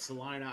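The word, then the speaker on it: Celina: going to pronounce i everybody pronounces Selena it's Selina I in school yeah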